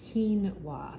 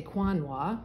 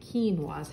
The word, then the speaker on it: quinoa: is a bag of quinoa is how it's pronounced quinoa but you see the qu right here Q little tail on it you so you don't say Quan wok we say quinoa how it's pronounced but it does have the